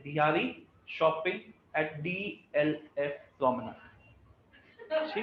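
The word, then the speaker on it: promenade: नाड, नाड या नेड नहीं होता, नेड, प्रोमेनेड, प्रोमेनेड। देखो ये यहाँ से प्रोमेनेड ये बताएगा, देखो ये जाता रहता है ना, बताइए। नेड नहीं है, प्रोमेनाड ही है, प्रोमेनाड।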